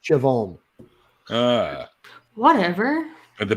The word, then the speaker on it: Siobhan: girl's name over here that's Irish and it's pronounced Siobhan but it's spelled si ob hitch air and that makes sense yep even phonetically phonetically it's a bomb but it's pronounced Siobhan ah whatever the B is silent yeah don't